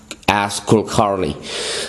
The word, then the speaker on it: Kulkarni: I mean, there may be a different pronunciation to her last name, but that's how she pronounces it, as Kulkarni.